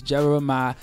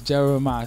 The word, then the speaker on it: Jeremih: my name is Jeremiah I thought of a way I can let people know exactly how to say it and it's really it's really easy and it's just one two three I just came up with that okay it's is Jeremiah so all my fans